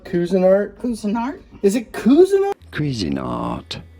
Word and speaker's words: Cuisinart: Cuisinart, as in cuisine, and art, of course.